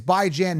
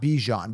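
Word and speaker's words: Bijan: by Jan but anyways it's by Jan not bejan because by is in by weekly Jan is in ran by Jan anyways it's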